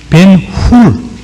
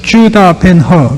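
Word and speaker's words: Ben-Hur: 벤허, 그 영어 발음을 해서 HUR로 되어 그 허로 발음을 했습니다만 벤이란 이 히브리어의 자손이라는 뜻입니다. 벤훌, 훌의 자손 유다입니다. 그 영어로 읽어서 주다 벤허 그러던 기억나십니까?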